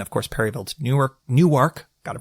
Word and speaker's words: Newark: in DC then of course Perryville to Newark Newark gotta pronounce it correctly delawareans you know how they